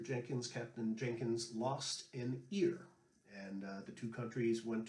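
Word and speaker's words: Jenkins' Ear: It's a set called the War of Jenkins Ear. Some people also mispronounce this, saying the War of Jenkins Era.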